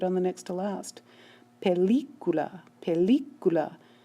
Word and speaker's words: película: You can hear the stress is on the L-I, and yet this word ends in a vowel, so a written accent mark is needed because we have to move the stress over.